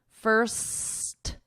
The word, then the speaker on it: first: Okay, here we have a difference because with one, you need ST. First. The difference between the other one is my tongue is not going between my teeth.